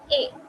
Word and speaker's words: et: ET है मतलब A. एथ नहीं. Unless and until ET के बाद कोई वोवेल आ रहा है. That is a different case. तभी तुम लोग एथ प्रोनाउंस करोगे. But if there is no vowel, then A.